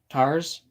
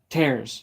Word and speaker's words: tares: Tars explained. Tares. No, it's tares explained.